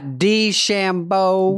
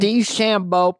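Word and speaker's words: DeChambeau: e o now what is that is that pronounced there's one called shambo did I get that right bryson shambo dshambo dshambo professional golfer your words not mine any relation to Dennis Dancini remember him?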